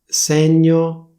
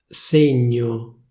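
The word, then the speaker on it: segno: The pronunciation got completely (beep)! sègno, ségno - ségno mèglio méglio - méglio dènte dénte - dénte studènte studénte - studénte preside...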